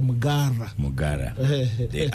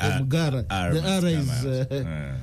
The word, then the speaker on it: Mpuuga: The Honorable Mugara, incidentally we pronounce it Mugara. Mugara.